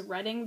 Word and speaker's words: Reading: like when she's introduced her name is reading but it's spelled r a d i n g and